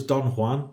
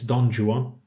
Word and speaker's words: Don Juan: So he's done what I thought was Don Juan, but apparently it's Don Juan. That's how it's pronounced, or that's where it's pronounced in the audiobook.